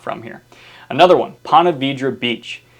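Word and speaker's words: Ponte Vedra: Another one, Panavidra Beach. If you call it Ponta Vedra, which is probably the correct way to say it, people will know that you're not from here, right?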